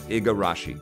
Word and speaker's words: Igarashi: I love Koji I always forget his last name wrong it's Igarashi I love the garage and I am a